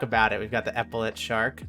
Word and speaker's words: epaulet: We've got the epaulet shark. Is that how you say it? I say epaulet. Yeah, epaulet shark.